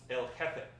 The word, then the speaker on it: El Jefe: It's pronounced El Jefe.